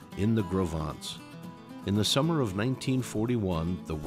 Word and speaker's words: Gros Ventre: John y Jess extrajeron ellos mismos las piedras para los cimientos en Gros Ventres (pronunciado: Grow Vaunts).